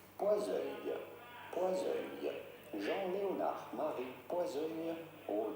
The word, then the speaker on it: Poiseuille: In French, in France, we would say Poiseuille. Poiseuille.